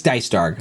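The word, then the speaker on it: Dycedarg: It's Dicedarg.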